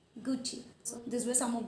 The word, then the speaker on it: Gucci: Yes, it is Gucci. Gucci.